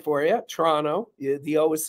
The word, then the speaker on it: Toronto: including Canada there you go Toronto see I pronounced it right for you Toronto the was silent um but um they uh